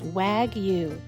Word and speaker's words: wagyu: up and we'll see you later the correct pronunciation of the steak is wagyu and if you'd like 20 off you're an